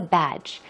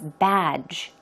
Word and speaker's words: badge: called the three lions but what is a badge I think I often hear people saying fifty-fifty right that's the way a lot of them you know Koreans pronounce the word but it's badge badge it's like an emblem or a symbol